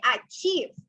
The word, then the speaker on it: achieve: here you say achieve so these two vowels the i and e sounds like e in spanish right you say achieve ah chi so it sounds like the letter in spanish that in spanish it's like e right e e the i in in spanish it's e in english is i right but you say e so you say achieve it sounds like e right c because this e is the long sound for the letter e